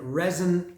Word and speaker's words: REZN: It's R-E. Some might say Z. I would say Zen, REZN, and Vinnum Sabbathi.